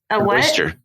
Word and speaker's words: oyster: Oyster. An oyster? Oyster. What is it? Oyster? Oyster. Did you seriously just... It doesn't rhyme with moisture?